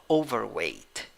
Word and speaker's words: overweight: pronounce this a word overweight overweight but this word has two syllables that are stressed the first syllable has the primary stress and the second and the third syllable has the secondary stress you can surely say